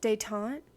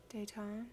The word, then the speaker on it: détente: Okay, 94 down really quick is You guys just told me how to pronounce this. Détente? Détente, is that right?